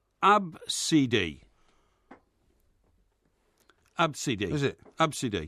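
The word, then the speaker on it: Abcde: just those five letters yeah okay and it's pronounced AB CD is it ABCD right right who've done anything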